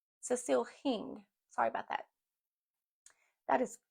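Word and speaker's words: Hingh: I said her last name wrong. It's H I N G H. Cecil Hing.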